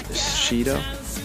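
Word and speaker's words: Sido: His name is Shido, or that's at least how I pronounce it, S-I-D-O.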